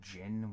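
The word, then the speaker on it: djinn: gin or however you i believe it's pronounced gin when there's no i on the end when it's just d j i n n and i know it's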